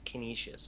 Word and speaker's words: Canisius: all due respect uh i know it is spelled exactly like you're pronouncing it uh i i will 100 agree with you but it is canisius i have been informed many a time over the past season not like that everybody wants their name pronounced correctly right fair enough they're paired